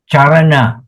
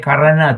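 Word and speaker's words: caraṇa: The consonants are, C is always pronounced as CH, ch, ch, okay. C as in ch, Charana, charana. When you see this word charana, then karana, some people will say karana to me.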